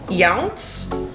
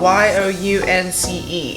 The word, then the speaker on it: Younce: Younce. Younce, like young. It's spelled Y-O-U-N-C-E. I don't know how you pronounce that. I'm gonna go with Younce.